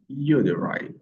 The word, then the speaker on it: uterine: Nous allons voir les mots comme uterine, uterine, uterine, OK? Ou bien uterine, uterine, uterine. Vous avez deux prononciations possibles et on insiste sur la première syllabe.